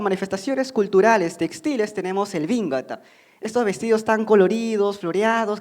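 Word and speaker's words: 紅型: Por lo general estas túnicas femeninas, van a ser elaboradas justamente con esta técnica del bingata.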